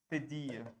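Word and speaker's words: cédille: This accent is called Sediye.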